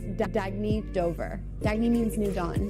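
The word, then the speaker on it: Dagne Dover: can live life intentionally oh it's pronounced Dagny Dover Dagny means new dawn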